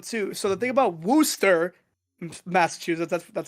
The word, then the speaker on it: Worcester: actually pretty fun too so the thing about Wooster Massachusetts that's how you pronounce it Phil I thought it was Worcestershire like the sauce no I thought it was Worchester I called it warchester first too and then everyone in Massachusetts tried